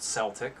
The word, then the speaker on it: Celtic: calling it so presumably the first celtic which was long before the pronunciation shift would also have been called with a with a soft c as well and that's but i